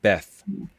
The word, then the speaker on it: Beth: So the image, the symbol that I got for you is this one, and it's pronounced Beth. It's spelled like this, like Beth, Ooh.